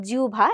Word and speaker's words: জিহ্বা: এই কারণে আমরা আহবান এবং জিউভা এই দুটো শব্দে হয় থাকা সত্ত্বেও ব্যতিক্রম লক্ষ্য করি।